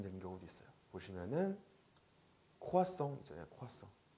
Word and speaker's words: croissant: 우아라고 발음이 되는 경우도 있어요. 보시면은 croissant 있잖아요.